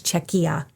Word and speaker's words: Czechia: But I did look up the pronunciation. It is Czechia.